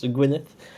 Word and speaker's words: Gwyneth: Let me maybe first tackle the most important one is where Gwyneth comes from. And yes, for sure, the pronunciation is how Gwyneth Paltrow is pronounced. So that's Gwyneth is the correct pronunciation.